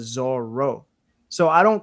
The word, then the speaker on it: Zoro: Like if you go in to like the actual manga like volumes, they all say Zolo instead of Zoro.